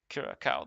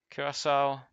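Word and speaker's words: Curaçao: I called it Kiraaka the first time around. Kurasau.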